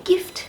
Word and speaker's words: gift: Gift, G-I-F-T.